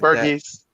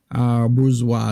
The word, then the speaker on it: Bourgeois: Burgess. It's that's not how you say it. Say it, Monty. Bourgeois B.